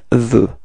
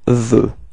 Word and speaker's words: veut: that final T is not pronounced, so it's actually the same pronunciation as we had for je and tu. Okay, so repeat, il veut. Okay, elle, well, you can see that it's the same pronunciation, so it's elle veut. Repeat, elle veut. Okay, so je, tu, il, and elle are just pronounced the same way, okay, and the sound is veux.